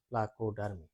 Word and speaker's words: প্লাকোডার্মি: দেখো প্লা, এখানে একটা প্লা, তারপর কো, তারপর ডার, তারপর মি, 4টা ভাওয়ালে কিন্তু প্লা কো ডার মি, এটা গেল।